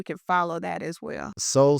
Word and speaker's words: Sol: Soul Sister is SOL. Soul is another word for sun. She's a sun goddess. Some So it's SOL, sister, SISTAH.